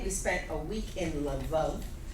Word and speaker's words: Lviv: We left in the middle of May, we spent a week in Lvov, which if you come from Lvov, they pronounce Lviv.